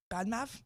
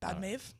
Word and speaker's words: Badmaev: Bad, and then Maev. Badmav. Badmave.